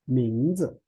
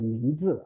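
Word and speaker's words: 名字: Some Chinese people maybe they pronounce like a 名字. Okay, 名字. Especially some people from like south part of China. It's possible for some older people, they pronounce it mistakenly. Okay, so don't worry. 名字. Okay, second one is neutral tone.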